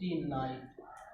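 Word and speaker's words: knight: KNOCK, knock, KNEW, न्यू, और KNIGST, नाइट, ठीक।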